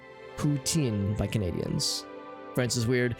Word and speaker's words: poutine: So is the T silent? That's what I'm trying. I don't know how to pronounce T and then S. Poutine. I know the N is like inside. Poutine by Canadians.